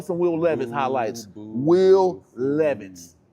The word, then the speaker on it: Levis: Will Levis. It's spelled like Levi's. Smell like Levi. With no apostrophe though.